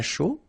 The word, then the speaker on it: chaud: Un chocolat chaud, remember CH, chaud, chocolat, and then final T not pronounced, chaud, final D not pronounced.